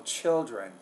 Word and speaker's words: children: day morning classes and don't forget the word chill children the L in there you're not pronouncing very clearly so children all right what do